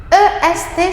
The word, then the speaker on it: est: C. C. EST, ça fait, se prononce E. E. Où le T à la fin ne se prononce pas.